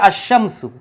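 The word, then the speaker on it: الشمس: যেমন ওয়াশামসিহা শামস সরাসরি আশামসু অর্থাৎ আলিফ লামের উচ্চারণ এই জায়গায় হয় না বা আর রহমানু হ্যাঁ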